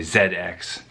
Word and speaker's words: ZX: in the UK so I have to say Zed X to have the proper pronunciation so there's no confusion as to what this rack is thank you - good